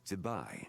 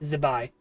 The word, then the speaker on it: Zibai: Her name is Zibai. Zibai. Okay, you scrape over the I.